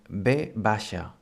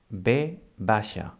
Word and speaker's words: b baixa: This one is actually called B baixa. B baixa. It's the V, and well, in most Catalonia it's pronounced as the B, as the normal B.